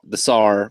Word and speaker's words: TSAR: I want to call it the SAR because it's almost like how the Russians spell it. They don't pronounce the T.